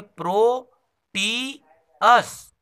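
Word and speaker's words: Proteus: तो अलग अलग है, प्रोटीअस।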